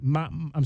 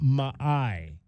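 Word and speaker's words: Ma'ae: chub it's actually chuba Maya is how you pronounce his name so it's chuba Ma Ma I'm sorry chuba ma chuba ma is how you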